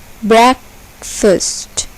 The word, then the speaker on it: breakfast: Breakfast. Breakfast. Here, the first syllable is accented. Breakfast.